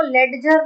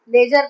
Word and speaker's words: ledger: सबसे पहले तो आपको इसको लेजर नहीं पढ़ना है। लेजर पढ़ना है। डी साइलेंट है।